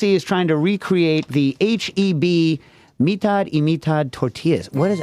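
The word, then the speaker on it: H-E-B: mean and they're like it's pronounced HB I'm like well this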